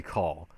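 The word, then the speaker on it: Caul: No, his name is Harry call. Harry means there's something fishy going on. Call meaning it's bugged.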